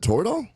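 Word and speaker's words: Toradol: big deal was it total rhymes with corridor right so anyway I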